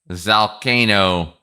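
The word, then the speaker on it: Zalcano: Zalkcano like volcano but with a z.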